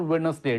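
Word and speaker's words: Wednesday: वेडनेसडे हो today is वेडनेसडे इट इज़ नॉट वेडनेसडे डी is silent तो वेडनेसडे हो Sunday आउ चार पांच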